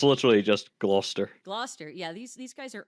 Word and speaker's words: Gloucester: it's literally just Gloucester.